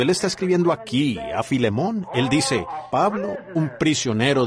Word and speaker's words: Filemón: la falta de Educación Así que Filemón dijo alguien allá atrás lo cual creo que es la pronunciación correcta Ahora el primer versículo